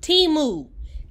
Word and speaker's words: Temu: me so don't look at Bethany but it's pronounced teamu T Mew timu timu timu I'll put it on mind your